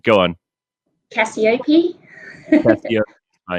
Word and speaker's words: Cacioppe: your surname right uh caciope right it is i'm i'm actually from australia so i kind of pronounce it with the australian accent but it's very close so no problem how